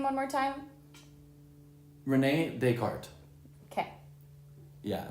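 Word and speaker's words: René Descartes: name one more time Renee deart okay yeah spelled dartz or whatever but it's French so cool so Renee deart is this guy he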